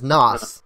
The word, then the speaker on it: Nas: And just in case, for those who are mistakenly pronouncing my username incorrectly, it's Nasaki. The character's name is Nas, but just like the rapper.